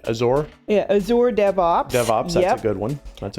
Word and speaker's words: Azure: moment of communication uh as or ezra uh i never pronounced that right azure yeah azure devops devops